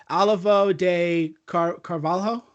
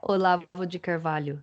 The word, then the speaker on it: Olavo de Carvalho: Yeah, you can pronounce it properly for me, but Olivo de Carvalho. Yeah, Olavo de Carvalho.